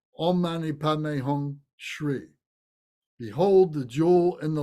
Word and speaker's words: Shri: That's pronounced Shri.